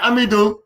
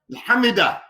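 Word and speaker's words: حمده: La not hamidu. You know how to say it, Hamza? Hamida.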